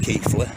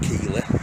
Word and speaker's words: Keighley: It's pronounced Keighley, not Keighley.